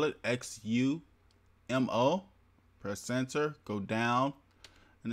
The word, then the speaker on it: Xumo: to search it and this is how you spell it X you mo press ENTER go down and install it now